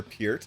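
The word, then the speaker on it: Peart: You know, we lost Neil hurt from Rush or Pier if you say it correctly.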